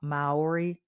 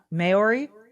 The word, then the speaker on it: Maori: I cannot pronounce the name of his tribe Maori it's spelled m-a-o-r-i mayori John correct okay Maori um should he not